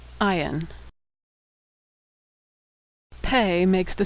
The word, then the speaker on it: Ayin: Ayin is silent like the letter Aleph. Ayin.